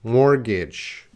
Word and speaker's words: mortgage: And you might say mortgage, mortgage, but that is wrong. That is not the correct pronunciation because that T is silent. Mortgage, mortgage. Right now, everyone, mortgage. Don't say that T, mortgage.